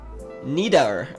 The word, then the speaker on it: Nidar: My last name is hard to say. Don't feel bad. It's Nidar.